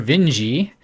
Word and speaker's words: Vinge: a fire upon the deep written by Vernor Vinge II I discovered that that is the correct way to pronounce it is this like metros are you